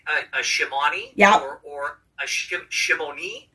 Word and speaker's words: Shimoni: that just wanted to double check on the pronunciation of your last name shimone shimone okay we were taking bets that it was